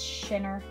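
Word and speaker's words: Schinner: biscuits from the new Moko shinner or Skinner I'm not sure how to say her name I think it's shinner myoko Shiner it's like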